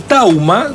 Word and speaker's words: thauma: Bueno, vamos a hablar del tauma, no sé si lo dije bien, o qué significa pensar. ¿Lo dije bien? Lo dijo bien, bueno, sí, se puede pronunciar como me saco tauma.